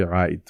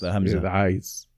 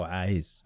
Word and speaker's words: A'iz: In Sudan we say Aid, but the actual pronunciation is Aiz. Oh, Aiz.